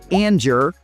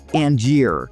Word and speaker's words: Angier: I'm talking about Angier, and yes, it's pronounced Angier, not Angier.